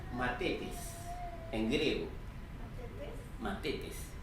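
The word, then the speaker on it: μαθητής: La palabra discípulo tiene en griego, se pronuncia matetes, en griego.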